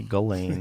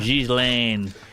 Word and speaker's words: Ghislaine: I think you say Ghislaine. Yes, that's right. What language is that? They would say Ghislaine and French, spell it like that.